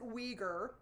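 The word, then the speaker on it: Uyghur: terms are correct but you pronounce it weager and this is an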